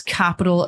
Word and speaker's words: Cxpital: social media is that's capital official. It's CX Pi T A L official.